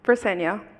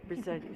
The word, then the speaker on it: Briseño: We will next hear from Briseno. Did I say it correctly? Briseño. Briseño. Like yo at the end. Okay, Briseño, thank you.